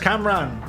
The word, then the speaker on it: Cam Ranh: Ah, it's pronounced Camran.